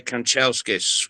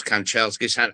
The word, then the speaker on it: Kanchelskis: and it was against Manchester United, and Andrei Kanchelskis was playing for United. And I thought to myself, hey, Jack's going to struggle with this. So I gave him a lesson on how to pronounce Kanchelskis, and in fact he cracked it, and so